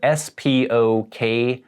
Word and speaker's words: Spokane: It is spelled S-P-O-K-A-N-E, so it looks like it should be Spokane or maybe even Spokane or something, but we say Spokane.